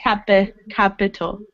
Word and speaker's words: capital: It's not capital, capital. It's capital. Capital.